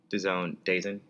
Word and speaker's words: DAZN: If you're gonna call it DAZN, just spell it DAZONE. Bellator, I'm sorry. It's not Bellator's fault. It's DAZN's fault. DAZN.